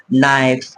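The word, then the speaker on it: knife: কি আছে এন আছে অর্থাৎ কে এর পরে যখন এন এই লেটারটা থাকবে তাহলে তখন কিন্তু কে টা আমাদের সাইলেন্ট থাকবে যেরকম নো নাইফ নো লেট ওকে এরকম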